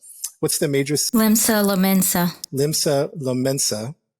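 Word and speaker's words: Limsa Lominsa: So, if you go to Final Fantasy 14 online and, Pastor Coco, what's the name of, I always pronounce it wrong. What's the major? Limsa Lomensa, right?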